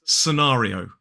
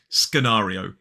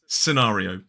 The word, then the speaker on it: scenario: accent this word is scenario scenario four syllables the stress falls on the second syllable so that first syllable